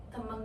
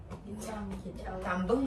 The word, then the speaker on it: tembang: Jadi, Sunan Kalijaga itu berdakwah lewat wayang kulit, gamelan, dan tembang Jawa. Gimana bacanya? Ya, tambeng enggak? Tembeng. Tembang.